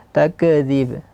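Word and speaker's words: تكذيب: Di sini sering terjadi kesalahan di kaf yang diqalqalahkan. Takzib. Takzib. Nah. Untuk apa? karena ingin menghadirkan sifatnya. Tapi salah sifatnya dia seharusnya di sini bukan qalqalah tapi e hams. E setelah syiddah takzib. Takzib di ba yang terakhir baru ada qalqalah.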